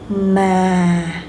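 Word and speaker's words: mà: Ma Ma Okay, and you can see uh both the vowel there's a tonal mark, it go down, okay? Go down. Ma.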